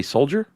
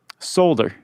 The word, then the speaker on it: solder: Did you say soldier? Solder. Solder. Yeah. Never heard it pronounced that way. How do you say it? Solder. A solder. You got to say that L. I think the L silent unless it's regional.